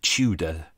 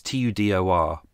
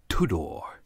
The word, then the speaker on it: Tudor: number one ladies and gentlemen what sport did tudor do professionally if you look at the details you will see that uh uh his name is uh in the uk we would say tudor because t-u-d-o-r but i deliberately i always double-check everything before